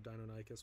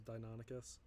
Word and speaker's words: Deinonychus: My mind was blown when they told me the correct pronunciation of Deinonychus was Deinonychus.